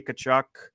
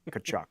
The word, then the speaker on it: Tkachuk: Again, no idea if that's how you pronounce her last name, but I think it is Tkachuk, something like that. Yep, Tkachuk, you got it.